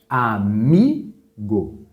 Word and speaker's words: amigo: A palavra amigo. Qual que é a sílaba mais forte? O mi.